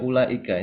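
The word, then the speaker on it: أولئك: ditulis secara secara penulisannya nanti ada yang sebaliknya dia ditulis tapi enggak diucapkan contohnya Ula Ika ini biasanya dalam Quran ketika ketemu huruf wau seperti ini ada lingkaran kecil di atasnya kalau ketemu di Quran ya ini artinya wauya itu enggak dibaca panjang kita enggak mengatakan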